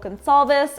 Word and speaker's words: Goncalves: My name is Goncalves. I never say my last name, so I feel like people don't know how to pronounce it. The C is pronounced like an S.